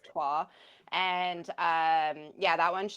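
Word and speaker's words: Troyes: may have seen it it's spelled like Troys um but it is a French word so it is TWA and um yeah that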